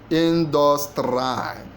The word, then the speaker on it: industry: Industry. It is A. Industry. So the stress is in the first syllable.